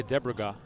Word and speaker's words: Debregeas: I would say Debregeas. Debregeas. I see the name and I just think of Cesc Fabregas.